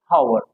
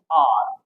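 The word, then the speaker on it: hour: तो हम इसको क्या बोलते हैं, हावर। हावर बोलते हैं कि नहीं बोलते। हावर क्या है, गलत है। इसमें एच क्या रहता है, साइलेंट रहता है।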